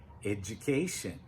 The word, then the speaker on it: education: So notice when you do the D and the U together, we get J, education.